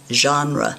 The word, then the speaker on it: genre: genre g n r please say it correctly genre and a genre is